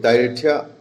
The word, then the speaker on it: Thyatira: ge Thyatian hai mean daga Thyatira ai gi pronunciation la laga su ai sum napiu T H Y A R I sorry T H Y A T I R A Thyatira amen adun itihasik oina sigi sahar haibdi